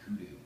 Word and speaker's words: kudu: As I contemplate the vigor with which you pounce upon life, even as the mighty lioness upon the hapless yet wily kudu, rhymes with blue.